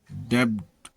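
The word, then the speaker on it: debt: टी से पहले आया हुआ बी प्रायः साइलेंट होता है, जैसे डेब्ट, कर्ज, डाउट, शक।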